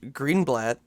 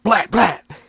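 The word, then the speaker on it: Greenblatt: by CH green blat I don't know if I'm saying his last name right it's like yeah Green blat okay good I just I saw blat and I didn't want to say it like you know blat blat s say it Angry yeah so we've got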